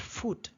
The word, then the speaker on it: foot: in English is not foot it's foot be careful this is foot foot not foot foot kind of like book okay book cook foot